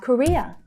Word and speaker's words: Korea: South Korea. South Korea. So we have South Korea. Korea. So that's the second syllable that's stressed there.